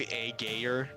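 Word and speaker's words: Ægir: That is Really, definitely- it is pronounced Aegir.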